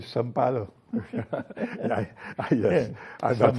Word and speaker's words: São Paulo: It's interesting that you pronounce it as Sao Paulo, because they don't do that in Brazil. They call it São Paulo.